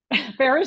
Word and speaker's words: Farrar: we run this group Farah's name is spelled weird but it is Farah um and we run